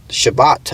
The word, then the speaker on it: Shabbat: Shabbat, I believe it is pronounced in Hebrew.